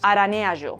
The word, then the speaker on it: araneaĵo: the ĵ is pronounced as in yo in the careful speech of Buenos Aires, or as je in French, araneaĵo, 'cobweb'; the k, L,